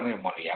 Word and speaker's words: neumonía: Por ejemplo, decía ahora que el germen más común asociado a neumonía bacteriana es ¿cuál? El Streptococcus pneumoniae. Es neumonía no se dice, neumonía. neumonía.